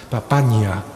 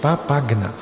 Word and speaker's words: Papagna: toda su vida Valentina papagna papaya pronunciando bien papagna Valentina Valentina papagna pues